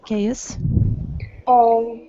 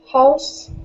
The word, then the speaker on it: chaos: Chaos. House. It is chaos. The pronunciation is a little bit different.